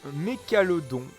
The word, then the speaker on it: Mécalodon: Alors, Mécalodon, puisque c'est comme ça qu'il faut prononcer, hein, bien sûr.